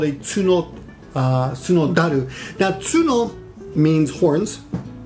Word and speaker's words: 角樽: And taru means barrel, but when you pronounce certain words together, often in Japanese, when you pronounce words together, the pronunciation on T becomes D. So tsuno plus taru together would be tsunodaru.